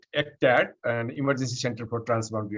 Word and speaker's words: ECTAD: When you are talking about the ECTAD, maybe you can pronounce it as ECTAD. We normally call it ECTAD, an Emergency Center for Transboundary Animal Disease.